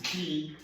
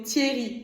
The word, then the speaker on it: Thierry: c'est que toute ma vie, j'ai cru que c'était un E muet. Toute ma vie entière. Thierry. Et c'est un E en plus parce que du coup, il y a 2 R derrière.